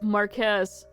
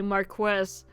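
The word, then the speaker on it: Marquess: 6th Marquest of Duneon which it bothers me that they pronounced the like the quu in that instead of just Marquez. actually say Marquest.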